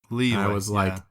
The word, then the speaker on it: Liyue: I remember I used to be so proud whenever I learned that I could officially pronounce Liyue. Liyue.